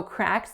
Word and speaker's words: cracks: The first syllable is cracks. Cracks. So just like we saw in the previous example, the vowel is a. So it's not a pure a. It's not cracks.